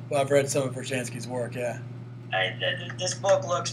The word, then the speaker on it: Brzezinski: I'm not even going to try to pronounce his Brzezinski. Last name. Yeah, Brzezinski.